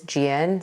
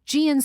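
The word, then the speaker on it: Jieun: call has that story my first name is Gian so that's spelled j-i-e-u-n born in Seoul South Korea gianco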